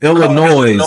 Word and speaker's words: Illinois: No, Illinois is wrong. If you pronounce the S, you completely wrong.